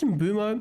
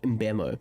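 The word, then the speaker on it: Mbeumo: Is it pronounced Mbumo? Mbemo? I do like the sound of Mbemo, but I naturally just call him Mbumo.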